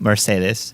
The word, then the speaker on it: Mercedes: mom named Mercedes Diaz yes like the car but with his Spanish accent Mercedes Mercedes was this in